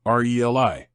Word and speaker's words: relay: Regardless of the meaning, the pronunciation remains the same, RELI. Knowing the correct pronunciation of relay is important for clear communication.